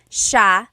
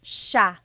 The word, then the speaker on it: siya: And then just a note about pronunciation, it's siya, siya. The S-I-Y combination makes the sh sound in Tagalog.